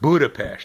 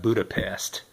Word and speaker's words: Budapest: It's pronounced Budapest, not Budapest.